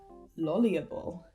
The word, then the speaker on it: lolibrary: metamorphose and coordinate and lolliable. Metamorphose. The stress is on the 3rd syllable. Coordinate. The stress is on the 2nd syllable. Lolliable. The stress is on the 3rd syllable.